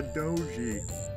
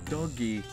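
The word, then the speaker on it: 道着: A doji. Or dogi. How do you pronounce that? Hold on. Okay. Turns out I was completely wrong. It's doggy. Interesting.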